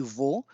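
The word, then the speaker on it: を: And before going to okudasai, just see that this O is not the vowel sound O. That is something else. This is actually wo, which is pronounced as O.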